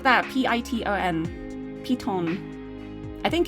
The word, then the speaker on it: piton: It said P-E-E, and then just wrote the word ton, like T-O-N. So it could be ton, it could be ton. It didn't really tell me how to pronounce the second part, but it's definitely P to start with.